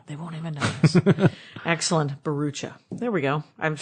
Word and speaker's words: Bharoocha: Excellent, Bharoocha. There we go. I've spelled it out phonetically like I should have a half an hour ago.